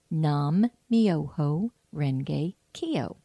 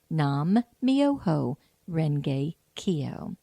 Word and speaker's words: Nam-myoho-renge-kyo: it's a wonderful chant and here it is nam-myoho-renge-kyo nam-myoho-renge-kyo and once more nam-myoho-renge-kyo so here's how you spell it and I think it's the real spelling